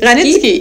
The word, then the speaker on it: Reich-Ranicki: Ranicki. Ah, ja, sorry, das ist mein Fehler gewesen. Mache ich nächstes Mal richtig, falls wir nochmal Marcel Reich-Ranicki hier haben. Ranicki hier.